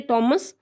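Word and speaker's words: Thomas: थॉमस Munro भी कहते हैं, इसे टॉमस भी कहते हैं। इंग्लैंड वाले तो टॉमस कहते हैं। हम इंडियंस जो है ये अपनी प्रोनाउंसिएशन के कारण इसे हम थॉमस कहते हैं।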